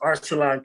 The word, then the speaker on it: Arsalan: I think it's pronounced Arsalan. Okay. That's in the corner there. Let me step in for that. His name is Arsalan Khaled.